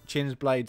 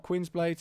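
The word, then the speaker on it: Qin's Blades: we're going to get chins blades in there obviously it's not Quinn blades it's chins blade that's the proper pronunciation for it chins blades in there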